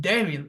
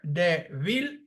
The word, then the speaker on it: débil: The same goes with débil, weak. That again, there are two syllables here, débil, and the phonetic sound is stressed on the second syllable from the end, débil.